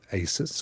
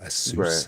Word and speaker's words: Asus: it's twice as powerful according to Asus or as soon if you want to you want to pronounce it has 120 hertz 120